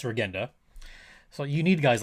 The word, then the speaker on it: Regenda: And by the way, I've been pronouncing his name wrong. It's not Regenda, it's Regenda.